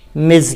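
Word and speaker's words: Ms: तो ये लिखा तो ऐसे गया है, लेकिन इसका उच्चारण है मिज, मज, हल्के से उच्चारण, मिज मज दोनों हो सकता है।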